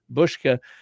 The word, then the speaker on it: Buska: There's no H in there even though it's pronounced bushka.